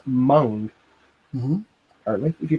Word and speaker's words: Meng: in the previous livestream apparently Meng is actually pronounced Mon hmm only if you